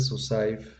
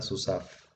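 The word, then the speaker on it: סוסיו: Aquí trae una notita que este Susaiv, eh, la yod no se pronuncia en este Susaiv, nada más queda Susaf. Esa va a ser una nota. En lugar de Susaiv va a ser Susaf. Se va a pronunciar nada más Susaf, que se traduce como sus caballos de él.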